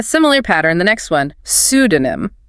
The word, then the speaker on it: pseudonym: So the mistake is trying to pronounce that P. The correct pronunciation is cec detonum. Cesenum. So it sounds like pseudonym silent P.